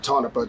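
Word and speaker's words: Tonopah: I am in tonpa I think you pronounce it tonopa tonopa tonopa Nevada um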